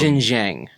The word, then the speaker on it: Xinjiang: Xinjiang. Okay, that's how it's pronounced.